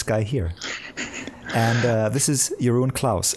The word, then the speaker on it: Jeroen Claus: here and this is your Owen Klaus is that is that the right pronunciation of your name yeah that's much better than the English do it here see ya I'm